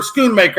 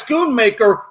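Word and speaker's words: Schoonmaker: key2 was when uh skoon I can never say that guy's name right I hope I get this name right skoon M scoon maker schoon maker I think is how you say his last name uh when he got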